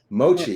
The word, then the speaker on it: mochi: Is it pronounced mochi? Mochi.